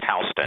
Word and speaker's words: Houston: It's spelled Houston, but it's pronounced Houston.